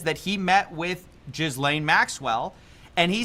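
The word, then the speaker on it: Ghislaine: that he met with Jizlane Maxwell and he said I I've always pronounced her name Gizlane but I like how he says Jizlane because it it just like in your mind associates her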